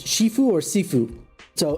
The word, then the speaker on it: shifu: Chinese is shifue and Cantonese is seifue.